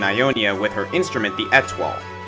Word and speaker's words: étoile: with her instrument, the étoile. The étoile is based off a Chinese instrument called the guzheng and pronounced the same way as the French word for star.